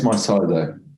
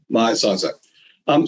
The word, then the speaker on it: MyCISO: Is that how you pronounce it? Yeah, it's MyCISO. MyCISO.